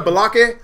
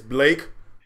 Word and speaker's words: Blake: Is there a Balake? Balake? It's Blake. He was just getting so mad.